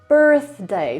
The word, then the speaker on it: birthday: Birthday. Do tej pory słyszę też różne wersje tego słowa, ale spoiler alert, tam nie ma dźwięku z. Nie mówimy, no właśnie z tym dźwiękiem z, tylko mówimy birthday. Birthday, birthday.